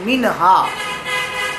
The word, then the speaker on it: منہا: یہ سوال کیا کہ منہا بچی کا نام رکھنا کیسا ہے۔ پہلے تو اس کا تلفظ دیکھ لیں، منہا، من الگ اور ہا۔ من معنی ہوتا ہے